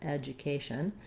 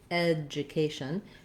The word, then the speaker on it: education: that people will mispronounce this as a d sound and a u sound do instead of ja edjah and so we do have secondary stress here with the red we have the red tent vowel for letter e so it does sound like ah education like the man's name ed um except that we don't do a d so i shouldn't write that that's misleading education it's like the word edge um so i'll rewrite